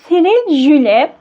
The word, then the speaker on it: Cyril Jule: Şimdi yazarın telaffuzuna baktım. Fransız bir yazar çünkü. Yazarımız Cyril Jule. Böyle okunuyor yani.